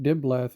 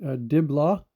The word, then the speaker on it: Diblah: in the concordance and here's the word diblah um pronounced Di instead of diath notice the difference between the the H the he and the the T which would be a a Tav it's a place of